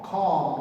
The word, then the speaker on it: comb: That's a knife, and that's a comb, like comb brush. Yeah, comb is C-O-M-B, but B is silent. Comb, we say comb.